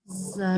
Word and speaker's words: Zogby: and Luana, every Yes. time you see a word that has more than 1 syllable that ends in Y, you never pronounce Y. It's always Okay. E. Zogby. Usually you only say I if it's a 1 syllable, like sky, Y, deny, okay? But if it's simply, terribly, Zogby, okay?